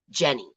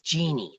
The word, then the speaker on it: Jeannie: Wait, it's Jenny, but it's Jeannie. That's what it is. Jeannie. I always pronounce that wrong.